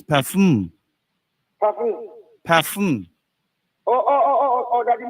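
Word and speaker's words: PAFM: But you're still calling the name wrong, you're still saying Pam. It is Parfum.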